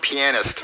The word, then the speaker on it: pianist: It's pronounced pianist. That's why I said penis.